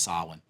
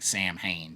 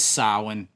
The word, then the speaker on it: Samhain: It was pronounced Samhain. Most of us grew up saying Samhain because we live in America. We didn't pronounce it that way. But it is Samhain.